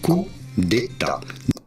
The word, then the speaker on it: coup d'état: In France, we would say coup d'état. Un coup d'état.